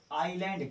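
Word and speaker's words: island: जी क्या होता है थे इश्यू कि हम आयरलैंड कहते हैं है ऐसे यहां पर क्या है साइलेंट है इसको चावल तय जयपुर इसमें डालते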